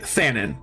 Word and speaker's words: Fanon: what in the actual how do you pronounce Fannon is it like gondorf or fenan it's I say it Fanon so just think of like fan on but honestly I'm not